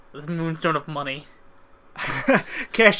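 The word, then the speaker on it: Khash: Cash is a place. Okay. It's spelled K-H-A-S-H.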